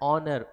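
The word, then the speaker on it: honour: तो फिर से एच है, यानी कि है तो कॉन्सोनेंट, लेकिन साउंड क्या आ रहा है? ऑनर, ओ का साउंड आ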